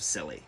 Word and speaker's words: Scilly: That's pretty fitting, actually, because whimper is the entire tone of the war between the Netherlands and the Isles of Scilly. That's how you pronounce it.